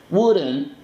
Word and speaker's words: wouldn't: Wouldn't, no es el would, es igual que el could. ¿Ok? En la pronunciación no digo would, que sé que hay unos que lo pronuncian así, o would, no, would. ¿Ok? Esa U es como, si te queda difícil, haz un sonido de ambulancia.